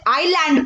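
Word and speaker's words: island: हो जाता है तो हम इसे इस लैंड नहीं पढेंगे हम इसे आईलैंड पढेंगे क्योंकि इसमें ऐड साइलेंट है और वह से पहले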